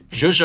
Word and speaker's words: zhuzh: Zhuzh up, A-S-T, latch onto, glom onto, that makes sense. All right, and you zhuzh something up. Because you're adding the zh sound at the end.